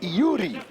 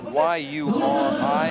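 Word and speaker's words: Iouri: It's Yuri. Yeah, exactly. It's almost like Y-U-R-I, except for it's I-O-U-R-I.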